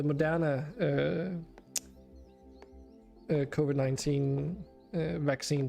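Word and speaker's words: Moderna: great how about you I got my second monner monner God damn it I keep saying it trying to do like an English pronunciation the modana uh uh covid-19 uh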